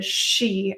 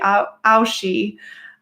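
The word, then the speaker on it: aos sí: referred to as the aoshi yes so aos space s i and then i've heard multiple variations but i've also heard you can pronounce that as the she as well or the aoshi um this whole celtic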